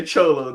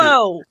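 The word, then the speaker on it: Xolo: He did not say Cholo, did he? Cholo? He did. It's Cholo. That's how you. That's His how name you is pronounce it. Zolo.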